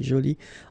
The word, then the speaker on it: jolie: Okay, so you can see that you put this e but then you don't pronounce it. Okay, so it's joli. So basically the two adjectives, masculine joli and feminine jolie, are pronounced the same way.